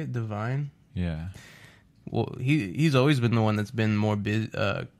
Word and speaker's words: Devine: Devine?